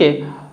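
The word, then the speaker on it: who: एच आ रहा है पहला एग्जांपल है हु नेक्स्ट वन है हुज होल हमम तो इन वर्ड एग्जांपल्स में भी जो डब्लू है ना य साइलेंट है क्योंकि देखिए जो ह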